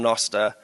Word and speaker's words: Nostr: and now we're able to build that on noar which is perfect by the way I pronounced it noar because uh there is a video somewhere out there the first video ever um on nosta where me f jaff um JB and a